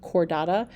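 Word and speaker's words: Chordata: group is the cordada that CH is pronounced like a k sound cordada these are the animals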